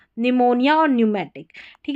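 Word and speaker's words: pneumatic: और ये न्यूमेटिक, निमोनिया और न्यूमेटिक, ठीक है। आगे है RH, इसमें क्या है, H साइलेंट रहता है।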